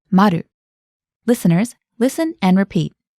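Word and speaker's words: まる: 709 would be remember that the zero is pronounced Maru listeners listen and repeat it's room 709 now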